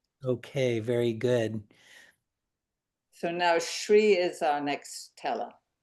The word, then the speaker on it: Sri: um yeah so yeah there is no h in the spelling but it is pronounced as shri whenever you know s is followed by r in general in names not in other words yeah it's called shri I should have listened to Katie.